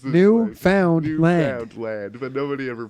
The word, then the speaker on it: Newfoundland: No, yeah, they Buy, just we're from buy Newfoundland, whatever.